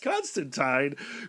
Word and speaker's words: Constantine: absolutely nasty and that's how he likes it pronounced Constantine great pick Eric thank you and our guest